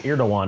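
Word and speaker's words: Erdoğan: It's Erdogan. Erdogan? Erdogan is how you say it.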